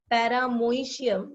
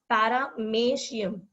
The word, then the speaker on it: Paramecium: I know the spelling will tell you to pronounce this as Paramoecium, but the pronunciation is Paramecium. M-O-E is pronounced as May.